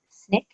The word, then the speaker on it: SNCC: One is the Student Nonviolent Coordinating Committee, which we abbreviate as SNCC and pronounce SNCC.